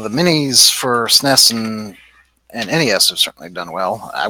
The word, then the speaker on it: NES: Oh, it's not NES. It's NES. According to Nintendo, it is just NES. Nope, it's NES. I've always kind of used them both interchangeably. I've always said NES, but they said it's pronounced NES.